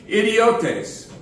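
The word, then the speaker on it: ἰδιώτης: unskilled it's an interesting Greek word let me pronounce it for you idiotes does sound like like an English word which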